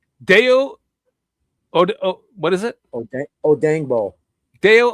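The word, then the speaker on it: Odeyingbo: Odengbo. Deo Odengbo. I'm finally pronouncing his name correctly.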